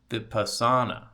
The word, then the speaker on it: Vipassana: It's Vipassana. Hold on. Vipassana. Yeah, that's what I was saying, right? Vipassana.